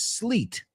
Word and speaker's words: sleet: Sleet rhymes with treat.